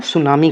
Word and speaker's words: tsunami: सुनामी की spelling कई बार miss spell में पूछी जा चुकी है, क्योंकि ये टी से स्टार्ट होती है, तो सुनामी कह सकते हैं। तो सुनामी की TSUNAMI सुनामी होता है।